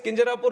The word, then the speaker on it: Kinjarapu: And my name is Kinjarapu Ram Mohan Naidu. And when some people say Kinjarapu, there might be some problem with them. They can't pronounce it the way I pronounce it.